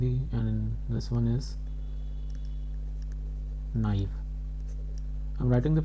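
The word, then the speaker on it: naïve: And both the vowels are pronounced separately.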